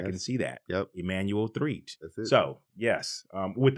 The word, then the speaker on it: Threatt: I didn't have to say it like that, Threatt. But like I told him when we first got here, I was like, it's Threatt, right? He was like, no, it's Threatt.